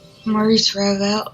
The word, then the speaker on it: Maurice Ravel: Jean-Jacques Rousseau, Georges Bizet, Maurice Ravel. No fucking clue, and I probably butchered all those French names. No, Marie- it's Maurice Ravel.